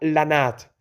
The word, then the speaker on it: ranat: sentado en el suelo tocando una ranat se pronuncia lanat si bien Yo estaba